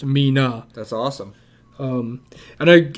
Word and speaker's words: Mina: favorite it's 37 because in japan it's pronounced as me and nana or shortened to na so when you put it together it'd be pronounced mina that's awesome um and